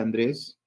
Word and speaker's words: Andrés: Una palabra aguda lleva la mayor fuerza de voz en la última sílaba, termina en S, por lo tanto, le coloco la tilde tópica.